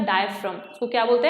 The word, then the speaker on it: diaphragm: होगी, this is द डायफ्राम। इसको क्या बोलते हैं, डायफ्राम बोलते हैं। इसकी स्पेलिंग DIAPHRAGM होती है, डायफ्रागम नहीं, it's called pronounce is डायफ्राम, ठीक है।